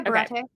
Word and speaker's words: Baratie: I saw like the nods to his original character, but like what's the Baratier? Did I say that right? Yeah, Baratier.